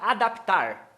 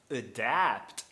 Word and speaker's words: adapt: Porque o tá na sílaba tônica, a palavra adaptar. adapt. Eu não posso falar adapt, não pode. Não pode. Por a segunda vogal é forte, é tônica, meu amigo.